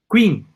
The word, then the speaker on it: Qing: Se escribe Q-U-I-N-G, Qing.